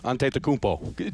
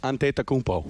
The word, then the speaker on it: Antetokounmpo: Is that he's the only guy who can correctly pronounce my guy on the Milwaukee Bucks. Giannis Antetokounmpo. Do it again, please. Giannis Antetokounmpo.